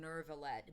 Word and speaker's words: Neuvillette: You're not adding that rhoticism to it, but like they're probably going like, oh, it's kind of like you're going nervillette, but don't do the R. Neuvillette.